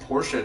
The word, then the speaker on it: Porsche: It is pronounced Porsche, not Porsche. I mean, some people say Porsche, but the actual pronunciation, according to Germany, because it is a German-made vehicle, is Porsche.